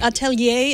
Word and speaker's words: Atelier: Is that how you pronounce it? Atelier. Atelier.